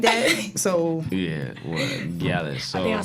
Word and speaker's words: gyalis: Gallus. Like the gal them. Yeah. Gallus. Oh. Gallus. See, my family half Bahamian, but I don't really know them like that. So Yeah, what? Gallus.